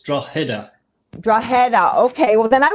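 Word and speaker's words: Drogheda: attempt at the pronunciation the g is is silent believe it or not so it's like a h it's draw header dragon okay well then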